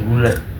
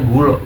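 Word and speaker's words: Gulö: Tapi biasanya bacanya sebenarnya gula cuman Iya. Kebanyakan orang sini bacanya gulo gulo karena penulisan di sono ada sedikit beda titik dua di atas O-nya.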